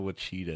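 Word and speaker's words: Ouachita: But it's spelled with an O. Yeah, it's spelled with an O. It's very weird spelling.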